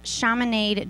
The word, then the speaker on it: Chaminade: to transport students to Chaminade Julian. Did I pronounce that right? Chaminade. Chaminade. Not from here. It rhymes with promenade.